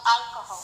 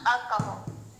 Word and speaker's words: alcohol: Who drinks too much alcohol. Too much alcohol. La H de alcohol se pronuncia como si fuera una J.